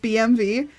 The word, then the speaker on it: BMW: call it a BMW only Germans pronounce it BMV well I guess I'm